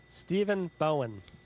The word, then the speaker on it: Stephen Bowen: I want to make sure I pronounce it properly. Stephen Bowen.